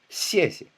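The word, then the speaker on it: 谢谢: Many of you've heard these in movies and on TV: xiè Followed by another "xie" but it's not: xiē xié xiě xiè it's: "xie" xièxie xièxie The second "xie" is very "light" Toneless.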